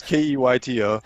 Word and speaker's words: Keyto: It's called Keto, but it's spelled with a Y. So it's Keyto.